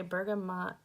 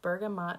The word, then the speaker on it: bergamot: we're talking about Bergamo I've heard it's a bergamot pronounced bergamot and Bergamo I usually call it Bergamo but I've said it both ways I think so the